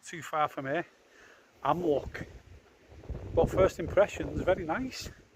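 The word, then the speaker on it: Amlwch: I'm in a place called Amloch. I've just asked a local and that's how you pronounce it.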